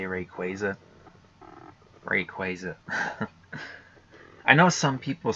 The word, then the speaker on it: Rayquaza: How do you say Rayquaza?